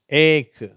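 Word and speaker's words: ache: child lunch பீச் much ஏக் stomach சரியா இது மட்டும் கொஞ்சம் உச்சரிப்பு மாறுது ஏக்கும் ஸ்டமக்கும் அந்த இக்குன்னு வந்திருக்கு மற்றது எல்லாம் இச் இச்ன்னு உச்சரிப்பு வருது ஓகேவா இந்த சிச் க்கு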